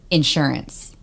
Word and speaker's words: insurance: That in insurance. I put the insurance on the first syllable.